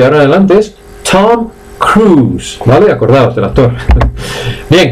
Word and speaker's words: Cruise: Tom Cruise no se dice. Y en todo caso se dice Tom Cruise. ¿Veis que la I no suena? Tom Cruise, o simplemente Cruise, que es crucero, ¿vale?